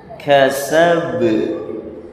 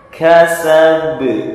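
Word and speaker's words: كسب: Maka membacanya dipantulkan, ya. Kasab, kasab, tidak boleh dibaca kasab, tapi dipantulkan.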